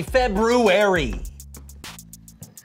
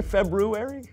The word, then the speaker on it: February: But most people don't pronounce the first R because it produces a cluster of consonants that isn't commonly used in modern English.